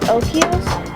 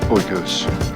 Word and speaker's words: Oikos: Do you pronounce it Okios? Oinkios? Oink-oink-ios? Oikos. Oikos.